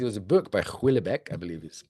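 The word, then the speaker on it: Houellebecq: And actually, there was a book by Huillebec, I believe his name is pronounced, it's a Frenchman, Huillebec, where he in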